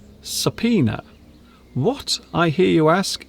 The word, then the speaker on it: subpoena: This is pronounced subpoena. Subpoena.